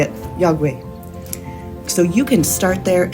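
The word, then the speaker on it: iakwe: And now I know how to say it, "Yagwe."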